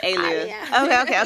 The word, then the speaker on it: Aliyah: Oh, you say it like my grandma. She said, oh, no. With the accent. So it's Aliyah.